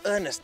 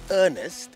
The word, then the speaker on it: Ernest: me here to Susan, Ernest and Hans with their incredible car with something called a dicky seat. Now, I called you Ernest, but it's not actually Ernest, it's pronounced Ernest.